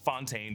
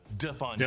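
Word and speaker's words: de Fontaine: It's not Fontaine, but DeFontaine. DeFontaine.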